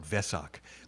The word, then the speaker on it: Vesak: Sila wimala but the the W is pronounced like a V right so that's why they call it Vesak and write it with